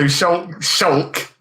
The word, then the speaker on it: Shulk: It's like, so Shulk, which is the worst fucking game name. Who came up with that shit? Shulk. It's pronounced more like Luke, though, so it's like Shulk.